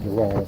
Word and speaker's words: Derale: And it is a Derale, however the hell you say that. I've heard it said, you know, pronounced different ways, but I always call it Derale.